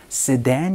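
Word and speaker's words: sedan: 여러분이 말씀을 해 주시거나 혹은 쓴 댄 세단 이라고 많이 말씀 해주시죠 쓰 덴 이라고 발음을 해 줍니다 그런데 여기에서 제가 말씀드리고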